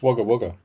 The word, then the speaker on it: Wagga Wagga: On an Impact Wrestling Down Under tour in Wagga Wagga, Australia. I know, it's pronounced Wagga Wagga. Wagga Wagga, I know that because I know somebody who used to live, who was from there.